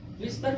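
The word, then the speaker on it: whisper: W के बाद H आया तो H क्या हो गया साइलेंट। ठीक, यानी क्या हो गया WISPER विस्पर मीन्स फुसफुसाना या बड़बड़ाना।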